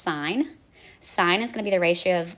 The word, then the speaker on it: sin: the button and so they cut off the E so that's actually pronounced sign sign is going to